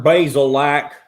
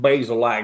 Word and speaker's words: Bazelak: name's Connor Bazelak. It's pronounced Bazelak, not Bazelak.